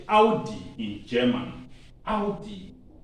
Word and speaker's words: Audi: out how how so when you see a car called a udi is audi audi don't say o we normally say audi in english but you say audi in german audi e